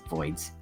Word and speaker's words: Voyds: That's spelled VOYDS, Voids.